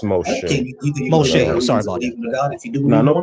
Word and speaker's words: Moshe: All right, Mosh, how's it going, Mosh? Are you over 18, and can you give me a good reason to believe in a God? Hey, how's it going? It's pronounced Moshe.